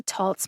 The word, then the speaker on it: Taltz: have come from t-o-l-t-z so i looked up the word waltz w-a-l-t-z waltz like the dance in webster's dictionary online that's the merriam webster's online dictionary and i found that the pronunciation for waltz is w-o-l-t-z just like on the tolts medication guide but the merriam-webster pronunciation